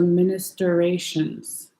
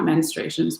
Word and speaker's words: ministrations: So it's supposed to be like minister. So ministrations, not menstruations, ministrations.